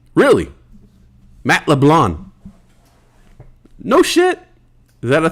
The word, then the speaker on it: LeBlanc: LeBlanc. Don't pronounce the C. Really? Matt LeBlanc.